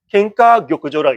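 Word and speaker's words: 金科玉条: 금과 옥조 케카조 격그조 캔카교조라고 읽으시면 됩니다.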